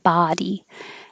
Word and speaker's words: body: up and down College the same for body looks like an O sounds like ah body and then I don't